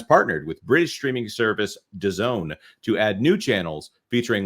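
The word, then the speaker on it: DAZN: with sports streaming platform I believe that is pronounced Doone the fox streamer will launch fast channels during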